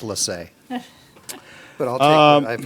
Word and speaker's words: Lace: You want to know, it's actually pronounced Lassay.